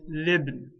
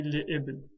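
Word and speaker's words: لابن: If I want to say for a son, I'll say libn. I will not say li'ibn.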